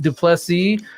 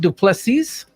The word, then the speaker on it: du Plessis: So first off, your name, Marguerite du Plessis. Am I close? It's a silent S at the end.